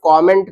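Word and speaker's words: comment: इसका सही प्रोनाउंसिएशन है लाइक करो, शेयर करो और कमेंट करो। कमेंट कमेंट नहीं होता है, के ए नहीं होता है, के ओ होता है, कमेंट।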